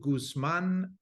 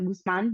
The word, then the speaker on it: Guzmán: for being here Kathy thank you for that excellent pronunciation um that is rare that I get that so I I appreciate the Gusman being said well I'm excited to